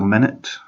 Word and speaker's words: Minit: Oh, there was another small game I played on the Game Pass as well, Minute. It's spelled like MINIT, but also it means like minute as in 60 seconds, because basically you play 60 seconds at a time.